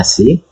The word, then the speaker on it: psi: Lalu nah, itu kan parsial kali si tulisannya PSI, bacanya si, per parsial X kuadrat ditambah P kali si sama dengan E kali EC.